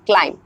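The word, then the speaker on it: climb: एल आई एम बी सो आप देख सकते हैं कि फर्स्टली हमने क्या एम लिया उसके बाद हमने बी लिया सो दैट्ची बी जो है ये साइलेंट हो जाएगा क्लाइम नाउ नेक्स्ट हमने क्या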